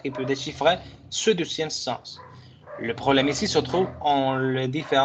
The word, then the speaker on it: sens: Atención, esta palabra si se pronuncia la S al final. Sens.